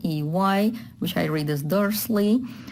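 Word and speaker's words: Дурсль: And in English, it's Dursley, which I read as Dursley with the sound. But here they translate it as Dursl. It actually is very hard to pronounce for native speakers, for Russian native speakers, because of Dursl.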